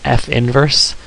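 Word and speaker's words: f⁻¹: It's pronounced f inverse, or the inverse of f.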